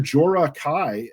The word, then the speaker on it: Jorah Kai: Jorah Kai, uh, introduce yourself. Did I pronounce that right?